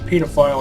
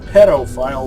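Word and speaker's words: pedophile: right get it the pita file is the correct pronunciation Peto file would actually mean a foot remember the first time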